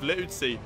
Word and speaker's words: Liuzzi: Not only did I get his first name wrong, I used to also say his last name wrong, but it's Liuzzi, I believe. Liuzzi.